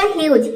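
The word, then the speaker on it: huge: यहाँ पे जी का हो जाएगा ज। इसमें जो ई आया है ये साइलेंट है। तो ये हो जाएगा ह्यूज।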